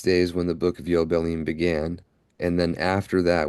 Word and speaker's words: Yobelim: We just finished with the book of Yobelim and now Jubilees. For everyone who's not familiar with that, yobelim is the Hebrew way of pronouncing the word. The the letter J switched for the yod, but that's not important at this point.